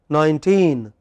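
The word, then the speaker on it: nineteen: In the first word 19, which part of the word is stressed? Teen.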